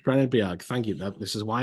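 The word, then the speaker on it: Bennebjerg: Is how you pronounce that name? Benebjerg, thank you.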